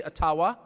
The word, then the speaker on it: Ottawa: matter who is in Ottawa or as we say atawa which by the way is the correct pronunciation according to my friends in the AA Community I've pronounced it that